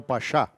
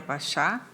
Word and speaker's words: Pachá: Convido para compor a mesa e proferir a conferência com o tema O Juiz e a Instituição Judiciária, excelentíssima juíza Andréia Maciel Pachá.